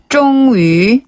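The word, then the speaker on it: 终于: 쫑위어 쫑위 쫑위 쫑위네 마침내란 뜻이에요. 네. 요게 그렇죠. 마칠 종자인데 최종할 때 그 종자기도 해요. 그래서 쫑위 최종 쫑위 발음을 하고요.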